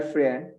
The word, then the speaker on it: friend: She is going to go to the same university as her friend. False. False. Friend. La I no se pronuncia.